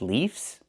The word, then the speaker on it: leaves: Trees have leaves?